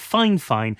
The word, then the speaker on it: Fifine: But whilst the company calls itself Fifine, that's just how you're meant to pronounce it.